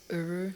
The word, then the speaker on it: URU: It's URU. URU. And you were saying that's spelled U-R-U.